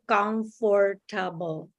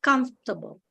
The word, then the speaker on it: comfortable: For example, we say comfortable. So it's like every syllable, but here I think they only say two syllables, comfortable.